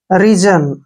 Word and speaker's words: reason: Next word REASON, देखिए आर का उच्चारण हम क्या करते हैं रे, और EA को बड़ी की मात्रा पढ़ते हैं, और S का उच्चारण यहाँ पर जय करेंगे, क्योंकि जब भी S से पहले ए आता है तो S का उच्चारण जय करते हैं। ON को हमने न पढ़ना है।